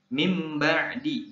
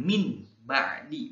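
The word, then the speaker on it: من بعد: bacanya seperti ini ya Nun mati bertemu ba Perhatikan dan dengarkan mim ba'di bukan min ba'di bukan tapi mim ba'di memindahkan dari aslinya Kalau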